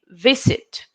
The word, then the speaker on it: visit: for pronunciation will be visit remember the stress is in V V sit now visit visit the